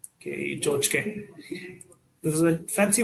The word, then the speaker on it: tchotchke: The next word is called chochke. It's pronounced Chochke, chochke.